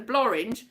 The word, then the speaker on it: Blorenge: It looked like it was an easy walk, and they went up the Blorenge as well, which apparently the Blorenge, which rhymes with orange, is a big mountain that I've got videos of that.